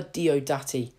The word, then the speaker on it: Diodati: taking a look at the haunting of Villa do-dirty oh because I finally said it right after